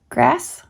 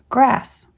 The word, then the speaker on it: grass: The word is neither pronounced grass nor gross, but grass.